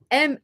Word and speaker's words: Marlena: Yeah, in Japanese, like there's no distinction between L and R, ne? Which my real name is actually super difficult for Japanese people. Marlena. Marlena. It's Marlena.